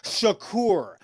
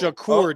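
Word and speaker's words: שחור: word in Hebrew is pronounced Shakur like Tupac Shakur and it means black and nobody yes that kid is Hebrew okay he's not the first one that's wrong he's wrong it's Shakur just like Tupac Shakur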